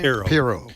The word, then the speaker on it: Pirro: to what Judge Janine, again, how do you pronounce her last name? Pirro.